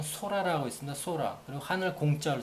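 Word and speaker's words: 空: 그리고 우리나라 그 일본 고유의 발음은 소라라고 있습니다.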